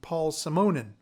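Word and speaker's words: Paul Simonon: deaf mick jones and paul simonen which i found out is the right way to pronounce his name from the clash symphonia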